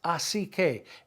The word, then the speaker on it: así que: It's así que. A-S-I, accent on the I. Así que.